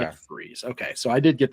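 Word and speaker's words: McVries: Because when I write when I read it, I pronounced it differently. It's Mc Ves. Yeah, McVrees.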